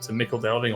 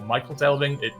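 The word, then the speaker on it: Michel Delving: So what we'll do is I'll just take us to Mickle Delving or Michael Delving. I've heard it pronounced both ways.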